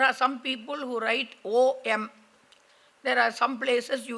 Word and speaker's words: Om: will find they write AUM. Okay. But whether they write AUM or whatever it is, it should not, when pronouncing it, you pronounce it only as Om. Nobody should pronounce it as Aum.